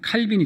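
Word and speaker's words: Calvin: 우리 또 저 는 칼빈이 잖아요 깔 뱅 이라고 하는 원래 발음으로 이제 깔 뱅 수납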